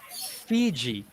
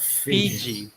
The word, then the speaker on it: Fiji: okay but so F so make sure you you pronounce that really clearly put some air into it Fiji not Fiji okay okay and then